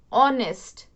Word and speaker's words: honest: Okay, see, the pronunciation of these two words is, we use H as silent, so we pronounce it honor, honest, honesty.